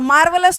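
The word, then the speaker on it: marvelous: चलो मार्वलस तो सुना होगा, बहुत बढ़िया, आर साइलेंट होता है वैसे।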